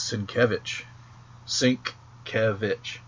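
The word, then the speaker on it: Sienkiewicz: in class he's like it's sink kevitch okay like like a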